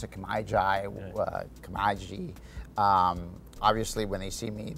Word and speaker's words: Kemiji: They don't know how to pronounce it. Kemiji.